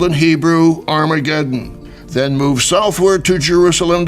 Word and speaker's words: Armageddon: called in Hebrew Armageddon the original Hebrew is harmagedon or the Mount of